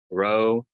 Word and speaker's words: Rho: Rho, kind of roll your R's, so ra, but it makes that kind of ra sound as you have an R in Spanish, not like the English R, but rolled a little bit.